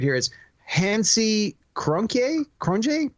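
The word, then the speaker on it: Cronje: Hansy Krunk Cron cron cron I think that's how they pronounce it from South Africa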